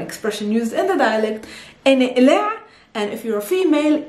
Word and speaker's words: إنقلع: sisters, for example, is inqlaa. Inqlaa. Inqlaa is a verb, it's an imperative verb. It comes from aqlaa or inqalaa, because in the Palestinian dialect we don't pronounce the qa. We pronounce it ah.